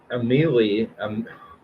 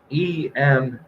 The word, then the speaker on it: Emeli: Emily, oh my God, I cannot pronounce this. Emeli.